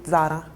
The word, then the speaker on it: Zara: In Italian, we have the Z more like strong. So, we always say Zara.